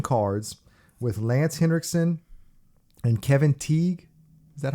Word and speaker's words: Kevin Teague: So this one is called Cutting Cards with Lance Henriksen and Kevin Teague.